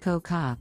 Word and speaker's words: Cocoa: Network, the hilarious comedian/actress Coco, pronounced Coca, Brown treats audiences to thought-provoking humor in which she declares, "I don't tell jokes, I tell the truth."